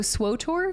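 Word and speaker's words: SWTOR: campaign in codor also the dev started pronouncing swod to rhyme with kodor as a marketing gimmick during development so swor cotor there was a long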